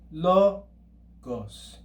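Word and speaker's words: λόγος: Now, if we were to add an acute accent to that first syllable, instead of logos, it would be logos, logos. Okay, that's the acute accent.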